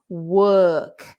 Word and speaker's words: work: That vowel is a tricky one in English because the spelling of that vowel can be many different things, because we can say girl is I-R, nurse is N-U-R-S, learn, L-E-A-R. Right. So it's a horrible vowel because you never know from the letters that you should be speaking it like that.